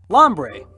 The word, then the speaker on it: Lombre: Lombre. Let's see. Rhymes with ombre.